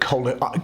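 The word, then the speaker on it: coeli: heavens sometimes you hear that word koli I'm using the classic Latin pronunciation ecclesiastical Latin or church Latin might sometimes call it cha or something like that if you hear it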